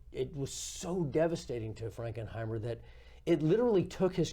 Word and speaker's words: Frankenheimer: watch there from John frankenheimer his name is spelled pretty much the way it sounds and we particularly recommend